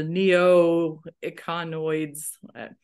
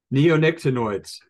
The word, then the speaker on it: neonicotinoids: even know if I'm going to try to pronounce this, the neoecanoids. I'm not going any further than that. I was waiting for you to pronounce what they all are. Yeah, I'm not going there. Neonicotinoids.